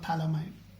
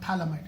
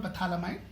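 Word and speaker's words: phthalimide: pH is silent. It's called thalamide. Thalamide synthesis. So there are 2 methods. One is called Hofmann ammonolysis reaction. Another one is nothing but called Gabriel thalamide synthesis. It's called thalamide.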